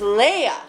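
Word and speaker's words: Leigh: That's not pronounced Lee in Manchester. Lee is L-E-E, or with me, it's L-I. Not L-E-I-G-H. It's a different pronunciation. It's Leia. Like Shillelagh.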